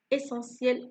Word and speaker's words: essentiel: أن توفر ses besoins حاجياتها essentiel الأساسية. لاحظ هنا كلمة essentiel على حرف الت هنا لكن نطقناه صوت س.